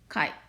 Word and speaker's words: chi: great letter kai but we have we will pronounce this as chi the method of the section apply only for